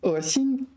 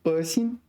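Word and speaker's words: 恶心: Next is 恶心. Yeah, this is third tone in this case, 恶心.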